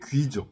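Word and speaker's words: 龜: 그게 귀죠, 귀. 구라고 읽기도 하는 시귀.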